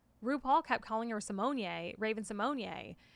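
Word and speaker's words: Raven-Symoné: Raven Simonier. It has an accent on the E on the end of her name, and when she was guest judging on RuPaul's Drag Race, she was like, "It's Simonier."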